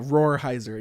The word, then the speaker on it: Rolheiser: Rohrheiser.